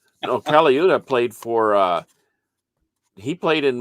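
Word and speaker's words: Colaiuta: Is it Caloza? Vinny Caliuta.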